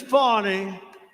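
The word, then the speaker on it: Fani: spelled f a n i my name is fonnie f a n i i don't figure it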